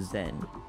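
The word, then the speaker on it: Xen: portal to another dimension zen pronounced the zen some of the scientists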